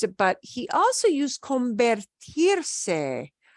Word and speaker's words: convertirse: There's another area, and I couldn't quite pinpoint the exact area where he used it, but he also used convertirse. Convertirse, which sounds like convert.